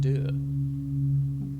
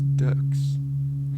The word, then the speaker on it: deux: It's just puberty part deux. I always thought it was ducks. Ducks? With you pronounce the X.